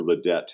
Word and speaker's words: Ledet: Corey Leder. Leder is how he pronounces that. Okay. That's the French way to say it. Right. A lot of people can't get that, so he'll settle for Ledet if that's what you want to say.